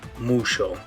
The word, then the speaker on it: mucho: for example this word instead of saying mucho they might say that like musho or this word instead